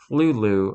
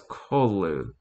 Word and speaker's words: Cthulhu: Nay, Lovecraft transcribed the pronunciation of Cthulhu as Clulu, although S.E. Joshi points out, however, that Lovecraft gave several different pronunciations on different occasions. He called Cthulhu in other weird stories. The first syllable of that is pronounced gutturally and very thickly, and the U is about like that in full. So it's Kolu. And the first syllable, it is not unlike a clue in sound.